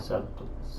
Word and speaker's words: subtle: Kathy asked, when I digital color, I struggle with subtle. The B is silent, I believe.